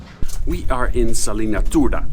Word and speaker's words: Turda: We We are in Salina Turda. I think at least you pronounce it Turda, not Turda, but I'm not sure.